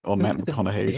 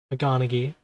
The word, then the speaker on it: McConaughey: Your gross man-bro crush on Matt McConaughey's dick. an unsavory thing to behold. This guy's an asshole. McConaughey.